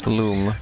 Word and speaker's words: Lum: there that's a yellow loom the classic rayman's pronounced alum you go do it you gotta do it elena it's authentic the instruction manual for raymond origin says that it's pronounced like luminosity my origins is a